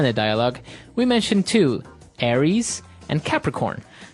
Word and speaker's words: Aries: And u So it's pronounced Aries. Aries.